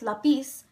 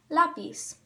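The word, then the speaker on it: lápiz: the oral stress there instead it is in the second to last syllable or the first syllable the word is not pronounced lapis so you know that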